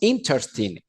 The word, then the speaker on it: interesting: fue fantástico it wass intersting intersting se escribe interesting pero la e Con la s son completamente mudas Por eso digo interstim intersting Son interesantes Ok entonces